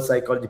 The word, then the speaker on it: psychology: harness h is silent the word psychology p is silent the word knife k